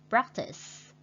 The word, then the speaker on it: practice: Listen is mean nghe, and we put the stretch on the first syllable.